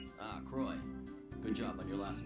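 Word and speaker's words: Croix: Croy. Okay, you're not supposed to pronounce the X.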